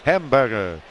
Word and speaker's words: Hamburger: your last name H hamburger with Without Really pronouncing the G so much but it's sort of there but you slide it